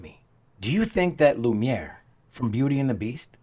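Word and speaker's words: Lumière: behind the scenes credit I totally butchered that candlestick's name Justin was the one who came on in and let me know it's Lumiere because I I did not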